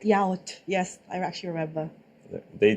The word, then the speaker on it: yaourt: Yaourt. Yes, I actually remember. They taught me the right way to pronounce everything in French, and Wait, it was hold on.